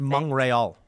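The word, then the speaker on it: Montréal: at the death and it's pronounced M rol yeah yeah but see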